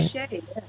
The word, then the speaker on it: Bichet: So Jenny Lee Bichet, is that the way I pronounce that? Am I doing it right? Bichet, yes, that is correct.